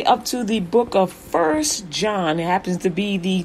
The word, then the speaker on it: 1 John: So it's the 1 John is number 62 in the 66 books of the Bible, and you pronounce it just the way I just said, 1 John.